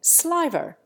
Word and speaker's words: sliver: The English also lengthen it in sliver. In America, the word usually rhymes with liver.